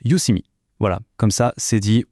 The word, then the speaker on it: Youseeme: Et petite précision qui a son importance, ça se prononce Udemy.